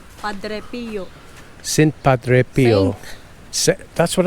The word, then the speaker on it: Padre Pio: How do you pronounce that, Mel? Saint Padre what? Saint Padre Pio. Padre Pio.